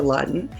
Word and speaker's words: Ladan: My first name is really Ladan. Um and they I really at a young age didn't like the way it sounded um when people pronounced it wrong. So I changed the pronunciation to Latin and I did not change the spelling.